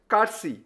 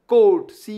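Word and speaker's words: courtesy: আমি লাল করে দিয়েছি ঠিক আছে খুব ইম্পর্টেন্ট কারসি আমরা বলি না যে ধরো এই ছেলেটা বা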